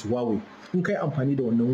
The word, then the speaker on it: Huawei: muka yi amfani da right pronunciation din is not Huawei is Huawei in kai amfani da